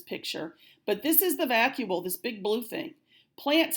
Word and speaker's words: vacuole: Again, this is not pronounced vacuole. Underline the C and write a K up above it. So it is vacuole.